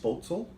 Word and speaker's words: Spoetzl: I believe it's pronounced portal it's an old German word and they they started